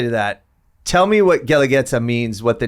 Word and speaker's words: Guelaguetza: the actual word um it's spelled gu e l a g u e t z a uh that hence why and the use are silent they have the two little dots on top and the I think